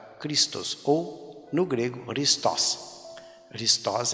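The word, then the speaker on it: Χριστός: Christos é a pronúncia correta, esta palavra aqui, ó, Christos. Tem um acento agudo aí no O.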